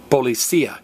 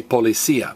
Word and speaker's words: policía: But notice, this noun ends in IA, and like most nouns that end in IA, there's an accent over the I, which means pronounce this word policía. Everybody say policía, policía.